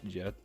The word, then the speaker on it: get: cheese just because like in Swedish goat is uh spelled like get but it's pronounced yet yet not yet yet